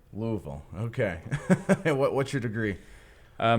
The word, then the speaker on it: Louisville: Seminary in Louisville Kentucky okay I and it's pronounced Louisville Louisville okay what's your degree uh master of okay